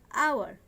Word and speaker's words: hour: Here also hour, notice this word hour, HOUR, এখানে H এর উচ্চারণ হর মতো না হয়ে অর মতো হচ্ছে, যার কারণে এখানেও আওয়ারের পূর্বে অলওয়েজ অ্যান বসবে।